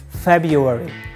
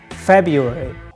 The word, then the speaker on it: February: the correct pronunciation is February the first R is silent you can drop the first R not February February February this is the correct pronunciation February just Joe it's dated